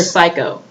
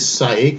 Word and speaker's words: Saeka: They keep mispronouncing her name. They keep calling her Psycho. It's Saeka, isn't it? It's Saeka, but they say Psycho.